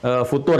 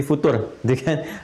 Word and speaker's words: futur: Apa yang disebut dengan future itu ya yang sudah pernah kita bahas bukan future tapi future jadi itu nggak usah di Inggriskan puter Jadi enggak usah bacanya future ya futur ya kalau sedang futur seperti